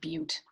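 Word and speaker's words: but-: butte which looks like but but it's we pronounce it butte five is pent and then some of these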